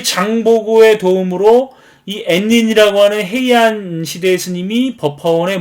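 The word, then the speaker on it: 円仁: 요걸 일본 말로 엔인이라고 읽는 건데 굉장히 잘생겼죠.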